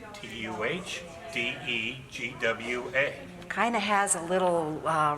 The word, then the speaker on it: Tadegwa: We usually have to spell it twice. Tuhdegwa. And they say, what? And I say, Tuhdegwa.